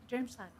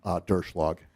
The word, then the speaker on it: Derschlag: Director Dermschlag. Could you say your name again to make sure I'm pronouncing it right? Yes, Chair Youakim, it's Derschlag.